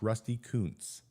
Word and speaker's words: Rusty Kuntz: The longtime first base coach, same situation for the Royals, named Rusty Kuntz. I'll let you look up his name on the internet, but that is how it's pronounced, Rusty Kuntz.